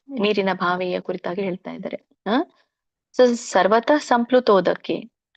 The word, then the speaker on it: ಸರ್ವತಃ: ಹೇಳ್ತೀನಿ ನೋಡಿ ಯಾವನರ್ಥ ಉದಾಪಾನೇ ಸರ್ವತಃ ಅಲ್ಲಿ ಸರ್ವ ವಕ್ಕೆ ಅರ್ಕಾವಳಿ ಇರೋದ್ರಿಂದ ರ ಮೊದಲು ಉಚ್ಚಾರಣೆ ಮಾಡಬೇಕು ಸರ್ವತ ಕ್ಕೆ ವಿಸರ್ಗ ಇರೋದ್ರಿಂದ ಪೂರ್ಣ ರೀತಿಯಾಗಿ ಉಚ್ಚಾರಣೆ ಮಾಡಬಾರದು ಮಧ್ಯದಲ್ಲಿದೆ ಹಾಗಾಗಿ ಅಲ್ಪ ಪ್ರಮಾಣದಲ್ಲಿ ವಿಸರ್ಗ ಹೇಳಬೇಕು ಸರ್ವತಃ ಸಂಪ್ಲು ಪಕ್ಕೆ ಲವತ್ತಿದೆ